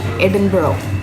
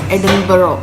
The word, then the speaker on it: Edinburgh: We are going to Edinburgh today I was pronouncing it as "Edinberg" The spelling is E-D-I-N-B-U-R-G-H After coming here and when listened to people, I realized that its pronounced as ɛdɪnbərə Edinburgh is the capital of Scotland We are